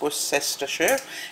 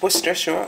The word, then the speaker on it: Worcestershire: I definitely going to need Worcester sauce, and contrary to how it's spelt, it's not pronounced Worcestershire, it's Worcestershire, so Worcester sauce. It's just the Brit way.